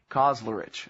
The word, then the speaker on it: Kauzlarich: And so this book is the story of Lieutenant Colonel Kauzlarich. Is that how you say it? Kauzlarich, okay.